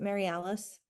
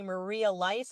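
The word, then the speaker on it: Marialice: Is it Mary Alice? Oh, you are fabulous. Because my parents took my Y and made it an I. So, a lot of people see Maria Lice and I go, "Oh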